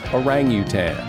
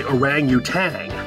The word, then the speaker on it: orangutan: mispronounce words like the word orangutan most people say orangutang they add the g at the end there's no g at